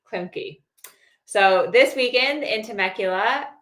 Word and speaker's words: Klemke: you pronounce it? Klemke. Klemke.